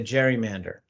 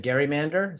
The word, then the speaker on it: gerrymander: Given it was Governor Gerry, you can call it a gerrymander. So there's kind of a GIF versus GIF, gerrymander versus gerrymander debate in terms of how you say it.